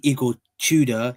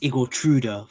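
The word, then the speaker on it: Igor Tudor: He He's supposed to say Igor TUDA. He said Igora for some reason. He made a green screen and he couldn't pronounce the manager's name right.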